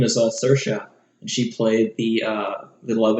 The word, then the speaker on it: Saoirse: last name but her first name is all Saoirse and she played the love interest from grand